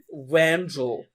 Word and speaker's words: Vangel: Vangel. Vangel. Like angel with a V.